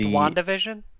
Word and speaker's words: WandaVision: It's got this really beautiful art style that really brings to mind, like, the Wakanda vision, but for... It's pronounced WandaVision.